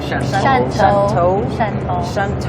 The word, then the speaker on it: Shantou: is this particular place that we're going to, Shantou, I keep pronouncing it wrong. Shantou.